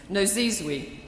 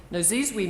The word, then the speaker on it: Nozizwe: Tutu established Nozizwe, she told me how to say this, Nozizwe Consulting, her own consulting business. Nozizwe means mother of many lands, in her mother